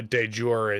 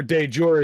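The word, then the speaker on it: de jure: like de facto versus de youre a or uh dejor and as its more commonly pronounced so yeah that the ura or dejore is literally latin for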